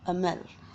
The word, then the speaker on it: Hamel: lesson taught by Monsieur Hamel, which is spelled with an H but pronounced with an A.